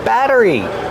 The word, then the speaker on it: battery: We see the double T making a fast D sound. Batter. Batter. Batteries. Like water bottle. Make sure it's a fast D. Batter. Batteries. Not a rolled R.